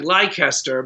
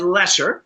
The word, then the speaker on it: Leicester: which is spelled uh it looks like lycuster but it's spell it's said lesser yeah so that episode